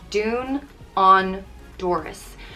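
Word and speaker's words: dún an doras: means close the door it's pronounced dune on doris dune honduras uh dune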